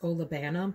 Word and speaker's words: olibanum: And in the base, you have this beautiful combination of, and I always say this wrong, I think it's pronounced olibanum, but I would say olibanum.